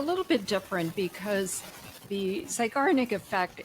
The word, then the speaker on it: Zeigarnik: I was like, I don't know how to pronounce it. Zygo, what Zeigarnik. was it? Zeigarnik. Zygarnik.